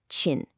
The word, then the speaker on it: 親: All right, next up we have Chin, pronounced Chin.